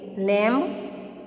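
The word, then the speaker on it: lamb: Watch तो यहाँ पे टी। कॉम तो कॉम में एम नहीं बोलते, लैम्ब तो इसमें भी एम।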